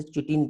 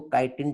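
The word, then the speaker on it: chitin: फिर काइटिन की यदि हम बात करते हैं, ठीक है, कई लोग इसे चिटिन पढ़ते हैं। ओके, एक्चुअली इसको काइटिन टर्म से प्रोनाउंस करते हैं।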